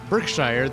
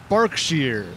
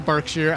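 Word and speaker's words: Berkshire: with rexus uh yeah so apparently you don't pronounce this word birkshire this is a bark shear wait wait wait wait now I got to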